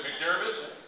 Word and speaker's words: McDiarmid: I know, but am I pronouncing that right? I know she's a girl. Is it McDiarmid?